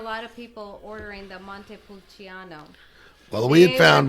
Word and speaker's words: Montepulciano: Montepulciano? Yeah, Is the that right? Montepulciano.